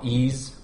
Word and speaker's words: Ys: the Wii Virtual Console it was called ease one and two the um y's yeah spelled with a Y like I I grew